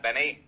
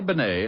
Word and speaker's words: Bennet: It's pronounced Bennet, not Benny.